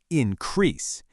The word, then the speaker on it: increase: That stress on the second syllable increase.